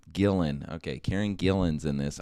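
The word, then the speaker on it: Gillan: off same yeah yeah uh karen jillian is that how you pronounce that every time gillen okay karen gillian's in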